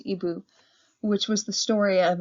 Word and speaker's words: Igbo: story of ebu landing that word there igbo is pronounced ebu which was the story